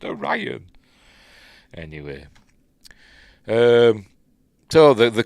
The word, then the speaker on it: Orion: to steal it from us first and it's pronounced or Ryan and it's pronounced or Ryan anyway um so the the queen or whatever